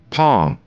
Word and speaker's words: palm: Palm, here L is silent.